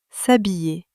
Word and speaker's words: s'habiller: S'habiller. Faites attention, ce verbe commence par un H muet. Le H ne se prononce pas.